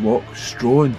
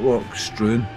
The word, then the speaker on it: Loch Stroan: that scenery absolutely lovely I think I've been pronouncing that well I think it's called walk strong not work strong so whatever it's called